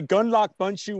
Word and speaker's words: Gundlach Bundschu: long enough you see you say gun lock bun shoe winery if you're talking to